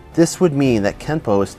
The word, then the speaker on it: kenpo: this would mean that kenpo is technically spelled with an n but should be pronounced with an m through romanization it is